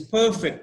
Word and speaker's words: perfect: this the shirt is perfect for me / perfect so stress isn't perm but were the stress is on the second part of the word perfect okay he perfected